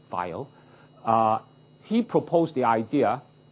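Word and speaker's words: Weyl: will do so uh vile w y l L vile uh I think this is although written as a w pronounced like a V vile uh he proposed the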